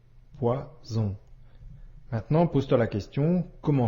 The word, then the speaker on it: poison: et la lettre O ici la lettre S se prononce bien comme le son ze poison maintenant pose-toi la question